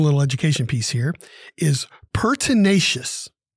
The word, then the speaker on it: pertinacious: education piece here is pertinacious pertinacious it's an adjective it is four syllables p e r t